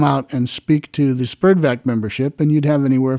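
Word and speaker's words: SPERDVAC: radio people there was also an organization called spurdvac which stood for and that's spelled s-p-e-r-d-v-a-c stood for society to preserve and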